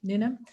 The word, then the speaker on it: Newnham: TEDx, is it Newnham? Am I pronouncing it? Newnham, yeah. Newnham.